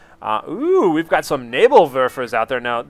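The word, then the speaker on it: Nebelwerfer: veras out there now my pronunciation of that word in German was much criticized throughout all of my Company of Heroes online uh so I will try to say it right at least once uh nabal ver nabal ver ER Neer you um but for the rest I'll probably just call it something abysmal like nebs or nebble warer which is my common pronunciation there anyhow you can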